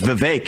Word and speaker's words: Vivek: you're worse than ramaswami I say my name's Vivek it rhymes with cake it ain't about thee